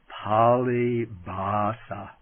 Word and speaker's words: pāli bhāsā: the canonical texts as pali basa i write that down it's p long a l i b h long a s long a palibasa which means the language